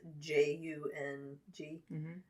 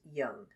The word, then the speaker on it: Jung: is he the guy his last name is spelled j-u-n-g but it's pronounced young right is german do